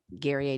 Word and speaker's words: Guerrier: The best way to remember how to pronounce it is like Perrier water, Guerrier.